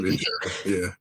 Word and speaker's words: Inisherin: Is that how you pronounce it? With Colin Farrell? Yeah. So yeah, I believe it's Banshees of Inisherin.